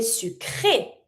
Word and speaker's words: sucré: Here I do say E sound because there's an accent on my E, on my E. So of course, if I put an accent on this, that means it needs to be pronounced.